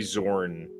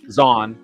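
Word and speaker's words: Zahn: wish that they could do the uh Timothy Zorn Z or whatever how do you say his name me Zan Zan yeah thank you um I read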